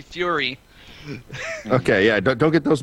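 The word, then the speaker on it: Fuhry: The H is silent in his name, so he puts it like that, and I always have to remember that because I always want to say Fury, and it's actually Fury.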